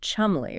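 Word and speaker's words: Cholmondeley: Shelandi, often pronounced Chumly.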